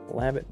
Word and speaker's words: Labatt: Is it Labatt or is it LaBay? Labatt Blue.